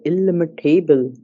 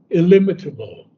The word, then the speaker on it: illimitable: allured by the omniscient ecstasy, a living center of the illimitable, widened to equate with the world's circumference. He turned to his immense spiritual fate. So we have two mispronunciations. Okay. Illimitable, illimitable, illim- Illimitable.